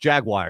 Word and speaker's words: Jaguar: Never heard that car pronounced Jaguar. It's only when it turned into an NFL team. No, it's always been pronounced Jaguar.